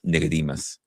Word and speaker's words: Nicodemus: It is Nicodemus.